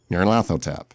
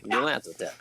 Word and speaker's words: Nyarlathotep: Nyarlathotep. Yeah, you have to say it's that. Very nasally. It's like comes through the nose. Yeah. Nyarlathotep.